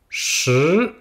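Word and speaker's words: 十: Et le 10, Shi. S-H-I. Donc comme pour le 4, le I se prononce comme un petit E, pas dire Shi.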